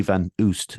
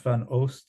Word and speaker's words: Van Oost: making something about Lily Van Oost, if I pronounced that correctly? Yeah, that's correct. I think it's pronounced Van Oost in Oost, is it? Yeah, the kind of Flemish, but it's yeah.